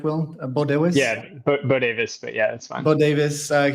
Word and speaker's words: Bodewes: Am I pronouncing that right, Will? Bodewes? Yeah, Bodewes, but yeah, that's fine.